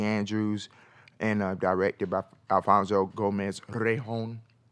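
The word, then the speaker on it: Gomez-Rejón: and directed by Alfonso Gomez today home I don't say it like that that's the correct way no what was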